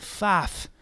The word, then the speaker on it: Pfaff: But the F is silent because it's from Scottish, and Pfaff.